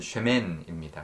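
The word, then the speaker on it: שמן: 맞춘 것처럼 보이지만 원어에 히브리 원어가 비슷한 그 발음이기 때문에 그렇습니다 이름은 셈이고요 기름은 쉐멘입니다 그래서 shame sheman보다 쉐미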